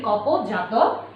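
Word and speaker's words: Kapota Jātaka: তোমাদের হোমওয়ার্ক থাকবে, HW থাকবে তোমাদের রিডিং, কপোতা জাতকা, পালিতে কপোতা জাতকা, অর্থাৎ বাংলায় যদিও আমরা উচ্চারণ করি কপোত জাতক, ইন পালি ল্যাঙ্গুয়েজ উই সে কপোতা জাতকা।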